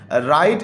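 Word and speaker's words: write: राइट एन ऐसे about your best friend. अब बच्चों ये देखें, राइट, इसमें डब्ल्यू तो हम लिखते हैं लेकिन डब्ल्यू साइलेंट होता है।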